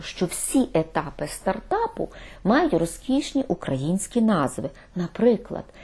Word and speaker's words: стартап: Стартап. Наголос на першому складі.